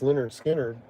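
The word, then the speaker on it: Lynyrd Skynyrd: They just kept working and working and working on their material and then finally, you know, pronounced Leonard Skinner came out like well after the band had formed.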